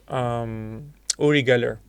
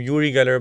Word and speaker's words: Uri Geller: Yeah, there was this very famous guy called Uri Geller. Uri Geller. Some people pronounce his name Uri Geller, but Uri is his name.